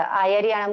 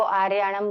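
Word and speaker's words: आयरियाणं: तो हाँ, वैसा आयरियाणम को आर्याणम बोल देते हैं।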